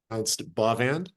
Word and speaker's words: Bavand: My name is pronounced Bavand. Bavand. Bavand, sorry.